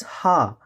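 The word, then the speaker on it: ห้า: that something is funny in the thai language five is pronounced as ha which when translated becomes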